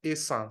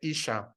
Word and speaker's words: Esan: That is because the Europeans didn't know how to pronounce the word Esan, so they say Isha, but it basically means the same.